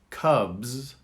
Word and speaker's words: cubs: Did you notice with the BS there's a Z at the end? Cubs, z, cubs. And with PS there's an S, cups.